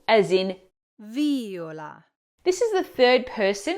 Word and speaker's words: viola: Viola, viola, Or should you say viola, viola, well, in this case, the correct pronunciation is viola. as I just mentioned, this is another example where stressing the wrong syllable gives you the wrong word.